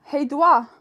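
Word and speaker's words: hej då: you guys tomorrow um how do you say bye hey hey dua yeah well that sounds like dodge basically bye guys we'll see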